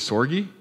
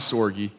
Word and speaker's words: Sorge: time anyway by Bob Sorge Soylent perhaps his name either sort is sore G sore you okay pronounce all of the vowels I guess all right Bob sore G another good read that